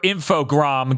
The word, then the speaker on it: Infogrames: Everyone, our Armadillo fans worldwide, get hyped for Infogram coming back. Good luck on saying it correctly, though, because it wasn't until an E3 at some point where someone said Infogram that I went, excuse me?